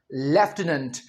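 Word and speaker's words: lieutenant: Britishers इसे कैसे बोलते हैं? लेफ्टिनेंट। वो इसमें एफ बोलेंगे लेकिन एफ को नहीं लिखेंगे।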